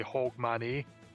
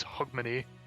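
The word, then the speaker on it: Hogmanay: attempts to pronounce because you should like when you read it it should say hog manny but it's hug money i have not thought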